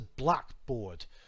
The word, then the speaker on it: blackboard: I'm saying them too, and notice how the pronunciation and intonation change to help the listener. It's a blackboard with the accent denoting stress compared to it's